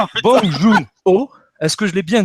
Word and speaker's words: Bong Joon-ho: Alors Charles, je compte sur toi pour la prononciation. Bong Joon-ho, est-ce que je l'ai bien dit?